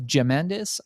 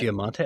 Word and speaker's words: Giamatti: Spectacular show with Paul Giamandis, I think you pronounce it. Giamatti.